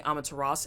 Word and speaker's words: Amaterasu: Isn't there a U at the end of the pronunciation of Amaterasu? So every time I've said Amaterasu, I got lambasted, so I just start saying Amaterasu, and people seem to appease by that.